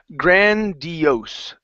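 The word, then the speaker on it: grandiose: word here is pronounced grandios grandios grandios grandios so the stress is on the very end instead of grandios grandios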